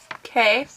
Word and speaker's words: Katerina: So how you spell it is K-A-T-E-R-I-N-A. So that's Katerina. So for the first part is cat. So I like to think of an actual cat.